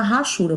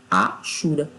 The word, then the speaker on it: hachura: um uma mistura aí chama hachura mas o certo correto é ashura tá o h é mudo tá certo então aí